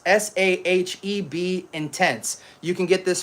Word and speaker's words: Sahib: This fragrance is called um Sahib Intense. S ah he eb Intense.